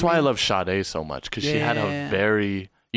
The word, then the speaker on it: Sade: Sade. That's how the pronunciation works with Yeah.